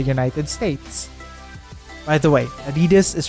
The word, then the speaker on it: adidas: popular in the united states by the way adidas is pronounced just like that but let's get back